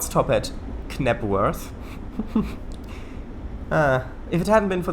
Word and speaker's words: Knebworth: Knebworth is the correct pronunciation.